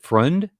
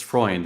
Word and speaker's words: Freund: pronouncing your last name is it friend it's freund it's like the cycle analyst with an extra n before the D okay freund how'd I do great okay awesome well on freund welcome to the show